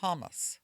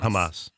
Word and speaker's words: Hamas: not be aware of it Malik Obama supports hamus did I say it right ham Hamas Hamas Hamas and was photographed in 2012 wearing